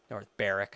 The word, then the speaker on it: North Berwick: North Berwick, I think they call it. I think the W is silent.